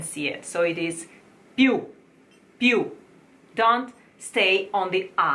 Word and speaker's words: più: Più chiaro sfavilla. Okay, più, più. This word, which means more, has a stress on the U, and you should never say piu, piu, because this is like a chick.